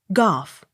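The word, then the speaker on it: Gough: second g soft g o u g h golf g o w e r gore but gower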